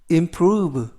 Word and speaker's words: improve: 뜻이 되겠습니다 이번 표현은 improve improve improve라고 발음하시면 되겠구요 이때 단어가 약간 길어서 강세를 알려드리면 앞에 있는 아이의 강세가 있는게 아니고요 알파벳 o의 강세가 있습니다 그래서 인프루브가 아니고 앰프루브 라고 발음하시면 좋겠고요 품사는 동사 뜻은 향상시키다 또는